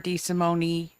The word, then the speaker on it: DeSimone: my name is DeSimone um my husband is Italian and the Italians unlike the French like to pronounce every letter thank you representative D